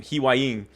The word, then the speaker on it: Higuaín: That's That's how you say his name, Higuaín.